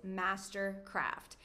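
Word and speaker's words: MSTRKRFT: alarm kan ze net de perfecte precisie is mastercraft ietsjes mastercraft ook met al de vowels riemen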